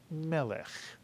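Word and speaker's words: מֶלֶךְ: And you see that the first segol has the vertical line next to it, telling us that the word is accented on the first syllable, and all Hebrew words with vowels segol, segol under the first 2 letters, those words are always accented on the first syllable. So the word is melech.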